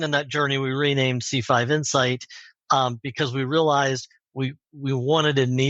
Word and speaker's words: C5 Insight: C5 Insight, actually, we pronounce it singularly here, although a lot of people say insights.